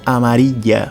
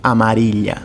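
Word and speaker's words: amarilla: amarelo tareta Amara Ok Lembrando que aqui eu tenho duplo l e eu posso pronunciar tanto Amara como amaril ou amarilha então isso vai depender muito da região e do país que você estiver outro temo relacionado ao jogo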